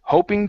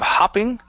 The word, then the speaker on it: hoping: avoid hoping to avoid good good one more hoping to avoid hoping to avoid okay give me an o sound instead of hopping ho hoping hoping to avoid good job uh